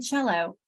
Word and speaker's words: cello: And recognizing the TI makes a sh like a CI makes sh, and the SI makes sh, or the C can make ch like in cello.